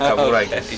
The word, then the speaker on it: Kavarakis: Yeah, you did pronounce it right. Kavarakis.